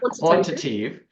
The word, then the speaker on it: quantitative: sure I get the emphasis on the right syllable. But when it comes to quantitative. That's the word that I can't say. Quantitative.